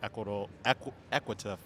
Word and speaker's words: Equita: So what did you learn from the food industry to where you are now running your Equita? Am I saying it correctly? Financial Network? Equita, yep. And you know what?